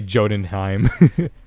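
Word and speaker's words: Jötunheim: a path to oh okay that's how you pronounce it let's say jodenheim silly oh yes yes yes this reminds me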